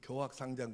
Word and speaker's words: 교학상장: 한문 잘하는 윤성수 집사, 저 뭐라고 읽어야 돼? 이거 뭐라고 읽냐고? 네. 교학상장 아니고? 아니요? 교학상장이요? 네. 이거는 일반적으로 할 때는 교자라고 합니다.